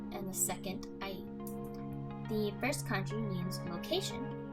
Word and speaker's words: 合: The third kanji is pronounced a, and the last character is the hiragana for u.